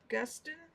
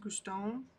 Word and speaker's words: Guston: Philip Guston is how Google says to pronounce it. But it also pulls up Beauty and the Beast, where it's pronounced Guston.